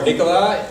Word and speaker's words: Nicolas: We're going to start off with Nicolas, or Nicolas, if you pronounce it correctly in French, from Orah.